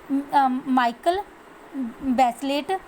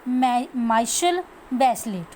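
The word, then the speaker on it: Michelle Bachelet: जो ये गर्ल थी, that girl मिचोले माइकल बैचलेट pronounce the माइशल बैचलेट, ठीक है। इसे हमने क्या पढ़ना है? माइशल बैचलेट पढ़ना है।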